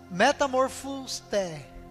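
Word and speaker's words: μεταμορφοῦσθε: Metamorphoste, é a pronúncia correta.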